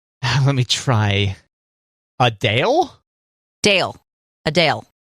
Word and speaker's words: Adele: Adele. It's not Adele. It's Adele. Adele. Adele. Adele. I hate it. Like a chip.